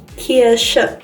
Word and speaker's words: Kirsche: Kirsche. And that would be cherry or cherries. Okay, so that is the difference. SCH is actually a very strong esh, which is what us Arabs are used to.